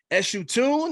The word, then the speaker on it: Eshu Tune: Burris AKA and I hope I get the pronunciation right as you tune is that correct yeah that's right yeah yes